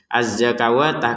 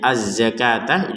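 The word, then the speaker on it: الزكاة: memang tempatnya alif ya sama juga ini azzakawatah kalau seakan-akan ya padahal Padahal ini cara bacanya azzakataah di sini berarti wunnya itu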